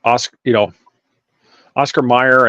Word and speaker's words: Oscar Mayer: Well, Mayer, Mayor, is pronounced Mayor. Mm-hmm. So why not Mayer?